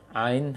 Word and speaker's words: ع: Ain ha. Maka pengucapan ain bukan dari hidung, akan tetapi dari tenggorokan tengah, wasatal halak, tengah tenggorokan. Berarti kalau baca ain ke hidung berarti keliru. Namun mungkin untuk sebagian orang,